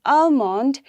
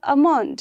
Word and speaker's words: almond: See, in almond, we don't say almond, right? The L will remain silent, and we only say almond, right? Almond. Now next is balm.